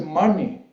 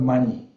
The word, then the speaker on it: Mani: And then is Mani. 2 syllables together is 1 sentence, Sanskrit, Mani, not money, okay? Money, but very similar.